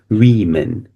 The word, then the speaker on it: women: In the singular form, we say woman, but in the plural form, it's pronounced women.